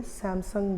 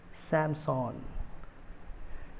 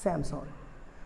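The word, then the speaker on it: Samsung: ये एक बहुत ही फेमस ब्रांड है और इसको हम लोग इंडिया में सैमसंग बोलते हैं। बट क्या आप जानते हैं इसका नाम सैमसंग नहीं है, इसका करेक्ट प्रोनाउंसिएशन है सैमसंग। इसका करेक्ट प्रोनाउंसिएशन है सैमसंग। अब आप लोग सोचेंगे ये सैमसंग कैसे हो सकता है, सैमसंग क्यों नहीं। देखिए सैमसंग जो है एक इंडियन ब्रांड नहीं है, ये कोरियन ब्रांड है।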